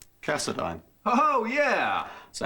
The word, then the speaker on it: Cassadine: big chunk of cash name rhymes with asinine Cassadine oh yeah so how